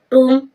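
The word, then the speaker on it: tomb: टूम, टूम means मकबरा, मकबरा होता है, टूम मीन्स मकबरा। यहाँ एम के बाद बी साइलेंट है।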